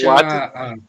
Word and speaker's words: Kuwait: Então, como é que Kuwait, eles não? Não, a gente Kuwait? a gente escreve Kuwait, né, mas pronuncia Kuwait, ok?